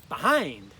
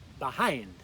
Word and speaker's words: behind: Behind. Please repeat after me. Behind. Again, notice that accent's on the second syllable.